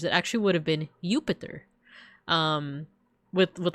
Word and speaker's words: Jupiter: wouldn't have been pronounced Jupiter back in Roman times. It actually would have been Jupiter um with with like a Y sound.